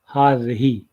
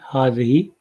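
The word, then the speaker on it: هذه: लिए हाजा के बजाय हाज़ही इस्तेमाल होता है। जैसे कि आप यहाँ देख रहे हैं हाज़ही, और इसको जिस तरह से प्रोनाउंस किया जाता है मैंने ब्रैकेट में लिख दिया है हाज़ही।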